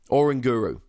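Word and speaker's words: Oranguru: first of all octillery slash or anger ooh or in guru that's the way you pronounce it and I'm putting my flag squarely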